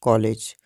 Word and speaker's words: कॉलेज: ऐसे ही कॉलेज में आप का के ऊपर जो चिन्ह देख रहे हैं, इसका भी हम विशेष ध्वनि के रूप में उच्चारण करेंगे, जैसे कि कॉलेज।